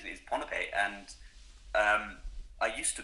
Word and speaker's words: Pohnpei: me a long time to get the wrong pronunciation in that it's technically pipe um the the island's name is pipe and um I used to call it pipe